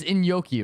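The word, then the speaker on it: Iñaki: I hope the casting needs to be literally Natsu is like the Luffy casting cuz it's in Yoki, right?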